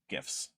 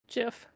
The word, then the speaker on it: GIF: in the minority but every time you say it with a hard g i it hurts a little bit physically say what GIF oh no they're gifs